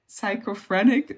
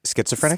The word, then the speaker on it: schizophrenic: it's a bit uh how do you say psychoprenic that's not the right pronunciation. Oh schizophrenic.